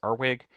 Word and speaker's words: RWG: resilient watersheds grant or the RWG program sometimes pronounced as ARWIG and it also has the climate uh climate smart communities um grant as well.